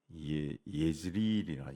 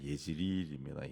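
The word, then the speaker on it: 이스르엘: 대로 한 거 같은데 이스엘이 아니고 그 보면은 예즈일이라 예지릴입니다. 예지릴 예즈일 자시 잘못하면은 이스라엘 사람으로 착각할 수 있는데 그냥 번역이 이제 그리된 겁니다.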